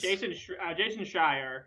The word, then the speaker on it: Jason Schreier: Jason Schreier, is that how I pronounce his name?